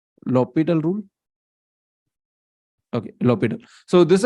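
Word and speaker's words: L'Hôpital: H is silent right low petal rule okay so this is a French name and uh if I remember correctly then this H must be silent and if I remember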